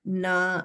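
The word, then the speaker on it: ना: When the right way of pronouncing na is like your tongue is not rolled back. It is in the straight regular position, but the tip touches back of the teeth and pronounce na. Just like a ta, but this is nasal, na.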